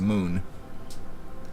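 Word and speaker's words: Mün: I was reading MUN with the little symbols over it is actually pronounced moon. Some odd way of doing it, but that is the case.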